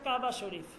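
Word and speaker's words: کعبہ شریف: হবে না কাবা শরীফ হবে না কাবা শরীফ বলেন বা কাবে শরীফ বলেন ঠিক আছে হয় এটা উর্দুতে যদি বলেন কাবে শরীফ আর বাংলাতে বললে আমরা কাবা শরীফ বলে থাকি আর এইরকম আর ধন্যবাদ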